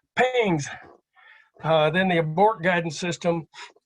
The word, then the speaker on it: PGNCS: It was PGNCS, but nobody could pronounce that, so they called it PINGS.